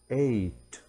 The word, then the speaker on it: eight: نطق حرفي g h eight أيضا حروف g و h silent لا تنطق eight e i g